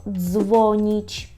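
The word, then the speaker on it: dzwonić: ДЗ або наприклад слово дзвоніть дзвоніть так телефонувати дзвонити дзвоніть ДЗ чітко ДЗ далі якщо ви знаєте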